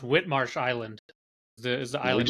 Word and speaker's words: Whitemarsh: came to be a part of Vieira at White Marsh well actually uh this is and I learned this about halfway through myself but it's actually Whit Marsh it's pronounced Whit Marsh Island the is the island where it is